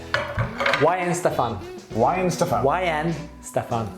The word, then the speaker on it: Weihenstephan: you pronounce it i i would have said weinstein okay but that's completely wrong isn't it it is why in stefan why and stuff yen